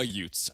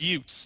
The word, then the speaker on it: Utes: like it thanks and it rhymes with with Utes that's where I was